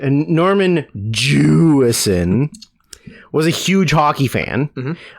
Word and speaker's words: Jewison: And Jewison didn't emphasis first syllable.